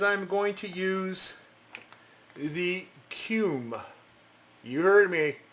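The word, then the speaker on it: Kum: So what I'm going to do is I'm going to use the Cume. You heard me, Cume. Ain't pronouncing it any other way.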